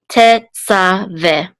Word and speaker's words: Tetzaveh: And then the three dots says this is a segol, and this hey is silent. So this is ve. Tetzaveh, you shall command.